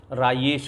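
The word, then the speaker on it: Rajesh: वहाँ पर जे को ये कहते हैं, जैसे मुझे कोई राजेश नहीं कहता था, वहाँ मुझे रायेश कहते थे। जे को य में प्रोनाउंशिएट करते हैं।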